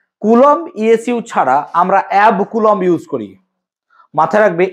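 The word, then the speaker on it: অ্যাবকুলম্ব: coulomb এটাকে বলা হয় অ্যাব কুলম্ব উচ্চারণটা এবি সি নয় অ্যাব কুলম্ব সমান টেন কুলম্ব হয়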